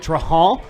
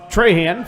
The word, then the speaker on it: Trahan: Yeah, and so it was Trahan for a little bit, and then we were told it was Traha. Yeah. Like Traha.